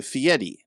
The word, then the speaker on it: Fieri: he changed it to Fieri now it's spelled f-i-e-r-i but in Italian the way you pronounce your r's it sounds like a t or a d yeah so because in